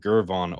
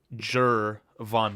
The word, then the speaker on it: Gervon: remember last year, it was I kept saying Gervon over and over and I couldn't fix it forever. Do you know what really helped me with that today, Adam? Oh, I'm listened to Jur von Dexter pronounce his name himself today.